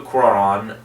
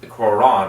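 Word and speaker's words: Cuarón: and george clooney when alfonso quran quran i believe is how you pronounce it uh picked out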